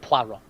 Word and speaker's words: Poirot: It's pronounced Poirot.